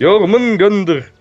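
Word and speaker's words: Jörmungandr: No, I'm not gonna try and pronounce it. Jormungandr.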